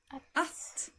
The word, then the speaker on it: att: Att. Can you say that? Yeah. So, in the basic form of the verb, for instance, to like, the word to will be pronounced like this in Swedish. Att.